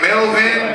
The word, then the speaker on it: Melbourne: Melvin, like Melvin, but it's spelled Melbourne and Brisbane, but it's Brisbane and Melvin.